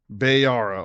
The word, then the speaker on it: Bayara: Welcome, Bayara. Which one is it, man? Bayara. Okay, Bayara. Okay, your name is probably one of those top 10 most mispronounced names, because I've heard about 6 renditions of it.